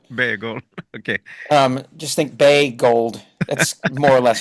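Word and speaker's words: Boegehold: his name bold Bagel okay um just think B gold that's more or less how it's pronounced yeah um and so he writes constantly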